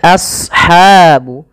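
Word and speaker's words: أصحاب: Kemudian pelafal ashabu as shad ya. Huruf shad tebal. Jangan as, jangan sin, tapi as ya. A-nya tipis, shadnya tebal. Karena shad punya sifat huruf isti dan idbaq.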